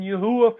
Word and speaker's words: Yahuwah: Trust in Yahuwah is my own pronunciation. Forever. Trust in Yahuwah forever.